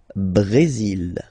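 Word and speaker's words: Brésil: only mexic okay Brazil brail okay you will pronounce the final L here and then remember ACC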